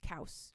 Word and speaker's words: Chaos: His name is Kaus, spelled like chaos, pronounced Kaus.